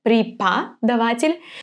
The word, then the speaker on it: преподаватель: The O, we know that it's going to be read as A because it's unstressed, преподаватель. But also the letter E is actually pronounced here as E, преподаватель.